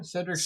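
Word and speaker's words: Sedric: Cedric's sacrifice? Cedric's, and it's spelled S-E-D, not C, so it's not like Harry Potter.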